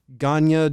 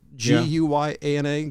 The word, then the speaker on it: Guyana: He then left the United States, bringing members to Ganya Jungle. Is that how you say it? Guyana, Ganya Jungle Commune. In 78, Guyana. Thank you. In Close 78, enough. I've heard it pronounced both ways.